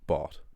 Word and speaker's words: bought: I'll explain it with a quick example in English with the word bought, right? So obviously you learn in English that a G is pronounced G, right? But OUGH isn't pronounced OG, isn't pronounced OG.